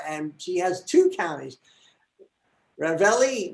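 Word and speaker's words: Ravalli: she has two counties ravelli which sounds like ravioli and minosulo counties in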